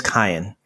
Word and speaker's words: Kayan: messages start coming in his name is cayenne but no two people seem to pronounce it the same and we're all okay